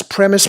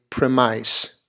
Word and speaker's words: premise: wouldn't mind that okay what number 25 is premise premises this the basis of an argument you